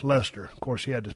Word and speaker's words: Leicester: Oh, pronounced Lester.